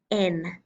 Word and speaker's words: yen: the symbol for money it has written yen but it is pronounced N so this is what